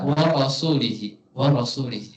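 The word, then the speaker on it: ورسولِه: Bacanya gimana? Annallaha bari'um minal musyrikin wa rasulih, dengan kasroh. Jadi dia bacanya itu rasul, lafaz rasul ini dibaca wa rasulihi.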